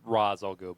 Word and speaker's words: Ra's al Ghul: We're I know it's pronounced Ra's al Ghul, but it's Excuse usually me.